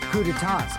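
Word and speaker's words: coup d'état: I remember hearing that they're dangerous guys who are responsible for terrorism, coup d'etats, and wars. Coup d'etat! That's how you pronounce it.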